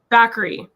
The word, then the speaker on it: Bakari: I think I said Bakari, and you said it as, what is the right way to say it? Bakari. Okay, There we go.